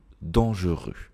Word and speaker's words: dangereux: cas-là en e ici on peut supprimer le E du milieu dangereux dangereux d'accord donc dangereux dangereux ici